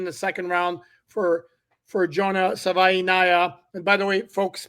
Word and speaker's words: Savaiinaia: Savaiinaia. Savaiinaia. Okay. No, but you will not leave the show without saying it right. Savaiinaia. Like Hawaii, but Savaiinaia.